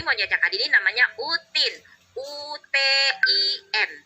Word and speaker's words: Utin: UTIN. Dibacanya Utin, bukannya Udin.